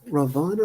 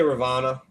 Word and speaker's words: Ravana: I would say Ravana. Ravana. Yeah, I mean you can say Ravana. whatever you Yeah. say whatever you like. That's the Sanskrit way. That's how it's said in Sanskrit apparently, but you can say whatever you like.